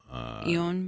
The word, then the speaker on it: Eoin: I don't even know how to pronounce his name. Really? Eoin Mackin. Yeah. Ewan Mackin.